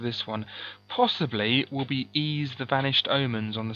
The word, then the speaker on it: Ys: one possibly will be ease the vanished omens on the Sega Master System a game I used to call wise that's is it not called wise it's brand new pronounced ease ease the vanished omens it's